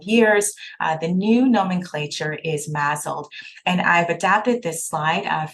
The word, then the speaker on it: MASLD: and it is pronounced MASLD, as if there is a Z here.